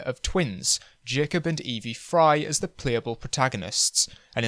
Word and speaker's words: Frye: Anderson gladly pointed out I was pronouncing the fry surname as fryer which I will be correcting for this video also due to the